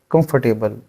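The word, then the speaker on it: comfortable: यहां पर क्या है कंफर्टेबल कम पर टेबल नहीं होता ठीक है ये शब्द हम इसको गलत प्रोनाउंस करते हैं ठीक है जिसकी करेक्ट प्रनंसीएशन है वो है कंफर्टेबल please please make WhatsApp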